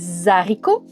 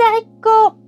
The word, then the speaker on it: haricot: C'est aussi le cas pour le fameux haricot. On ne dit pas les haricots, on doit dire les haricots.